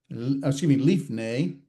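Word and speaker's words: לפני: Lifne, right? There's our hirik, and this is our silent shavah. So we're closing the syllable off, and it is, I'm trying not to make a mess. Okay, so that it would be leaf nay.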